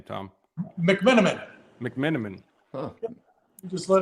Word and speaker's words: McMenamin: Mcmenamin.